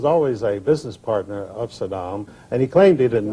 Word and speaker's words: Saddam: pronoun mispronounced his name he always called him Sodom uh as though he were trying to call him a sodomite I don't know but